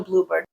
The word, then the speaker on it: bluebird: as in a species that is a compound word and the stress is on the first part Bluebird okay but if you